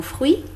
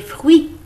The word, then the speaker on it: fruits: potage et des fruits dans le mou fruits on ne prononce ils étaient ni le s ici vous avez le